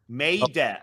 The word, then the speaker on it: Maida: Like a maiden. Maida.